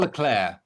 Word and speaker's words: Leclerc: in clubhouse, said, well, they call him Charles Leclerc. So that's what I call him now. Correct. And it rolls off the tongue so much nicer anyway. And it's a correct pronunciation, I would say, since he's from Monaco. So it would be more French-based.